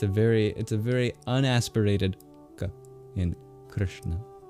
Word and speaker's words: Krishna: So it's just a very unaspirated ka in Krishna. It's very soft in that sense. We spell it Romanized Krishna, but there's actually no I. It's just an R. Goes straight from the K into the SH sound.